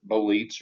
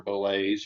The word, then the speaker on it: boletes: They're boletes or boletes or uh, Latin volatus. Just don't even worry about that. People pronounce it both ways, and I usually say belay because it comes out easier.